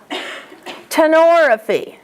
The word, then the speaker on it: tenorrhaphy: Underline the ORR in at least a couple of these words because students mispronounce these all the time. Herniorrhaphy, or. Tenorrhaphy, or.